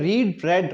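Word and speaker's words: read: spelling से होती है बट पहले वाले को रीड पढ़ते हैं सेकंड वर्ब सेकंड फॉर्म को रेड करते हैं थर्ड फॉर्म को भी रेड ही पढ़ते हैं रीड रेड रेड या फिर होता है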